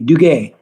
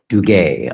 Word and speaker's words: Dugue: Dugay. Dugay.